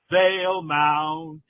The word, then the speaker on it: Valemount: EMOUNT, Vale Mount, Vale Mount. There you go. Just in case we needed a pronunciation guide, one of our sponsors.